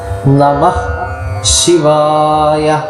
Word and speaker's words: നമഃ ശിവായ: ഹ എന്നോ ഹി എന്നോ ഇതൊന്നും നമ്മൾ മുഴുവനായിട്ട് പറയണമെന്നില്ല. ഹ എന്ന് പകുതി ഉച്ചാരണം വന്നാൽ മതി. നമഃ ശിവായ.